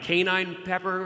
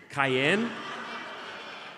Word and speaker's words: cayenne: it like uh like canine Pepper or something dude it's spiced chili doesn't say canine Peppers that's the way you pronounce Cayenne Cayenne is that what it's